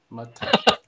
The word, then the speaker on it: Matah: Guys, you all know that Matah is the right way to say this, because 2 syllables. Matah.